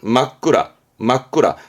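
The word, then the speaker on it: 真っ暗: 그럼 앞에 진짜로 어두운 거 발음은 막구라.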